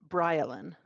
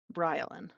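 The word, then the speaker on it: Baryleen: the first one is b-a-r-y-l-e-e-n this is a four-year-old female pronounce BryLin B the pronunciation is spelled b-r-y-l-a-l-i-n BryLin which like I guess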